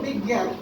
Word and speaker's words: বিজ্ঞান: উচ্চারণ বিজ্ঞান, উচ্চারণ হচ্ছে বিজ্ঞান, কিন্তু এখানে গ নাই।